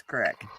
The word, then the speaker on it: Creek: always Crick it was you show me the sign that says Crick show me the sign that says Crick pronounced it we pronounced it cck you pronounced it cck but it's not because all the signs say C re e e k that's Creek that's not how you say it though that's the only hooked